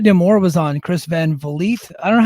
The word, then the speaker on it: Vliet: And Scott D'Amore was on Chris Van Vliet. I don't know how to pronounce his last Van name. Vliet. Van Van Vliet, Vliet. like Yeah. Greta Van Fleet, but Chris Van Vliet.